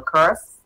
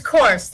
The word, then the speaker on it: Course: a report from curse i hope i pronounced your name right um it's course like a golf course okay it's all right